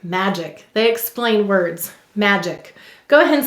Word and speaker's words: magic: the second syllable's ick now what sound of do you hear in magic the second why g may soften to ju before an e i or y there